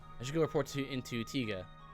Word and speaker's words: Tiga: I should go report into Tiga. I think it's Taiga. They pronounce it Taiga, but I feel like it should be Tiga.